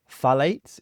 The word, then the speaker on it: phthalates: What are phthalates?